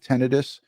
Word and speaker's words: tinnitus: So she specializes in everything ears, the tinnitus, she calls it tinnitus. She's a doctor, so that's the proper pronunciation for tinnitus.